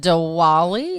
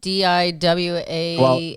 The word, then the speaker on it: Diwali: Okay, so I believe it's pronounced Diwali. It's like Diwali. Diwali, yeah, there's an Office episode named at that.